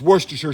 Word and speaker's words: Worcestershire: Next ingredient, Worcestershire sauce, and I pronounce it correctly, as other YouTubers don't. It's Worcestershire sauce, and you know, you don't say New Hampshire, it's New Hampshire, and so it's Worcestershire, all right?